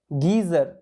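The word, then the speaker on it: geyser: এর মত হচ্ছে গিয়ার একই রকম ভাবে গিজার এ শব্দটার আগামাথা কিচ্ছু নেই গিজার ঠিক আছে এই জি ই জি ই ওয়াই এস ই আর গিজার একই রকম ভাবে গাইনোকোলজি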